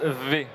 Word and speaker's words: V: battlefield qui a dit on prononce v exactement v pour victoire arrivé comme louis croivent